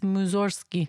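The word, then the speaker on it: Mussorgsky: It's spelled Musorski, but you don't really say the G, you know? It's Musorski because it's Russian.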